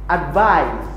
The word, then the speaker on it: advise: but for the verb advise it's spelled with an S which ironically is usually pronounced like a z while for the noun